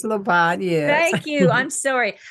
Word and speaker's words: Labat: streaming production of financial cures with Dr Wendy labot I was saying your name wrong incorrectly wasn't I you were being so polite laot right it's leot yeah thank you I'm sorry an esteemed entrepreneur